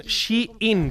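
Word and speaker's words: Shein: Yo Shane suelo comprar una Shane o más bien She in, que es como se pronuncia realmente en origen el nombre, pero aquí en España lo hemos llamado Shane, al gigante chino de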